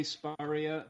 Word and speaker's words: Spurrier: um before we start can i just get the pronunciation of your surname correct is it spirulia i say sparia but that's because i'm a posh southern freak but uh yeah whatever works for you spurious bourrier whatever it's all the same to